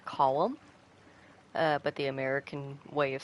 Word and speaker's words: Colm: It is pronounced Colm. But the American way of saying it is Colm.